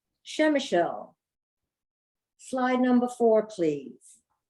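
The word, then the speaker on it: Przemyśl: r z e m y s l is pronounced shem michelle slide number four please shemachul is located in the southeastern corner of poland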